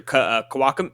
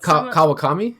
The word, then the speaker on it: Kawakami: Another good one was the teacher Kawakam. I always say it wrong. I kind of felt Kawakami. Yeah, it was Kawakami, that's it.